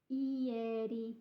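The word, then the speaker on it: ieri: g which is today Eady Yeti you have to pronounce all of those vowels I'm afraid so take your time just do them one at a time yesterday and Domani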